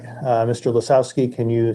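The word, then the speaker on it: Lisowski: pick it up okay all right uh mr lazowski can you say your name for the court reporter yes justin lesowski and uh oh you can spell it if you'd like l-i-s-o-w-s-k-i thank you and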